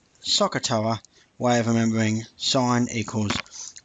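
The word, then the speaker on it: SOHCAHTOA: And you may remember, or you may not have seen, the really simple way of remembering SOH, CAH, TOA, fairly common, pronounced Sokotoa way of remembering sine equals opposite over hypotenuse, cos is adjacent over hypotenuse, and tan is opposite over adjacent.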